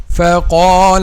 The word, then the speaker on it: فقال: وَنَادَى نُوحٌ رَبَّهُ فقال رب إن ابني من أهلي. So فقال. The edge of upper 2 front incisors touches the inner bottom lip.